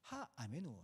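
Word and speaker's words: האמינו: 여기서 슈레하라라고 하는 단어가 하메누. 하메누 하메라고 하는데 제가 여러분들 듣기 싫어 쉽게 하시라고 하메우라고 발음하는 겁니다. 하 아메누 신뢰하라.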